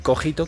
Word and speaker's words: cogito: cogito y ahí sí lo vamos a pronunciar así vamos a decir cogito que es suceso en